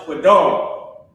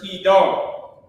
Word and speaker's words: Kedar: Last word on this line is quadar. Okay. Quadar is the word kedar. Kedar.